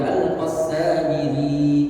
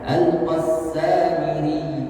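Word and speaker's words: السامري: Seperti di surah Al-Qassamiri ya, perlu ditekan Samiri. Nah, jangan cuma dibaca Al-Qassamiri, jangan dibaca panjang. Ketika dia tasydid mati maka harus ditekan Al-Qassamiri di surah Toha.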